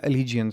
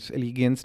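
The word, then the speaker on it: allegiance: आने है एलिगेंस सो एलिजंस न जद आप प्रोनाउंस करना है तो इट्स जी प्रॉपर बोलना एलीज एलीस नहीं है एलीज है ठीक है सपोर्ट फॉर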